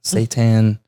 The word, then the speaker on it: seitan: back is amazed and the seitan is how you pronounce it seitan buffalo chicken but it's